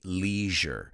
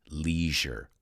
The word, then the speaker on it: leisure: otheo the british say leisure we say leisure so for the british the word pleasure and leisure rhyme for americans it's leisure ortho then i went